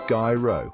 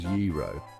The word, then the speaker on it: gyro: warned, this word is often a recipe for pronunciation disaster. The most common mistake I hear is gyro, which I gotta say sounds more like a dude's name than a food. And then there's gyro and even hero, which just make me scratch my head.